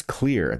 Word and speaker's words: Xlear: It's Clear. That's X-L-E-A-R, pronounced Clear.